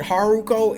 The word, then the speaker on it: Haruko: Like I said, Haruko, it's it's like Naruto and then with Shizuku clan or whatever.